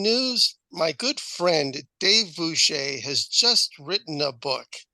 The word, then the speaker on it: Bueche: My name has Mm-hmm. a strange pronunciation. It's pronounced Bueche. Mm-hmm. But if you read it and if you know any German, it's like Buka, which is butcher, probably is the derivation of it.